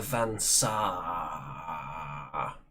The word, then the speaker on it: Van Saar: The Van Saar. You have to pronounce the double A there. So, the Van Saar, they have very advanced technology, but it comes at a terrible price.